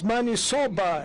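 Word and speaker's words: maniçoba: The interpreter could interpret it correctly because it's manisoba, as you pronounce it.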